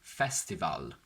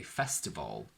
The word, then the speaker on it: festival: So we do not say festival, minimal. We say festival, minimal.